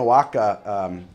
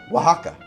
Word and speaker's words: Oaxaca: rum old-fashioned and we're gonna make it a Wacka old-fashioned hope I'm pronouncing it the right way I have a friend here who seems to speak Spanish natively Nico how do I say Oaxaca Oaxaca Oh with a w he told me it's